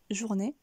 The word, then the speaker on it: journée: maintenant passons à journée ici on va également couper le mot en deux puisqu'il y a deux syllabes donc jour né comme vous pouvez le remarquer la première syllabe ne vous est pas étrangère jour nous venons de le voir avec bonjour et la deuxième partie du mot n'est ce qui donne jour n'est journée et si on reprend